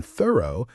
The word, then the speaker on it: thorough: And in thorough, the o u g h at the end makes a soft uh sound.